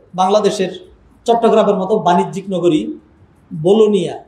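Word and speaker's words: Bologna: চট্টগ্রামের মত বাণিজ্যিক নগরী বলুনিয়া ইংলিশে লেখে বলগনা উচ্চারণ করে তারা বলুনিয়া সেখানে প্রোগ্রামে মাহফিলে গেল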